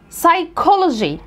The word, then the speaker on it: psychology: طب الكلمات ديت بتتنطق كي، كي، فانا بقولها technology. دي الشواذ بتوعها، technology، technical، mechanic، psychology، alchemist، biochemistry، chemistry، chemist، character، character، echo، mocha cafe، orchestra، physical، scholarship، scholarship، school.